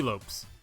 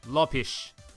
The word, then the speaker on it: Lopes: Lopez, or T. Lopes. Or if you want to be linguistically correct, it is pronounced Lopish.